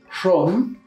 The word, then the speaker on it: shum: Shom. Shum. Shum. Shom. Shum. Shom. Igual, la escritura vamos a encontrar con U. Shum. En la pronunciación vamos a decir Shom.